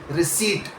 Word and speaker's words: receipt: Receipt. The P is silent. completely silent receipt, not receipt.